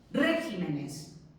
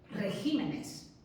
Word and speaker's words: regímenes: El plural de régimen no es regímenes, que además es que cuesta pronunciar. El plural es regímenes.